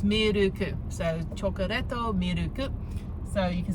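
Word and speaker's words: チョコレート: So chocolate would be chocoreto. So it's like, yeah, chocoreto. Milk is miruku. So it's miruku. So chocoreto, miruku.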